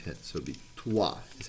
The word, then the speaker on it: trois: So it would be trois is how you say three in French.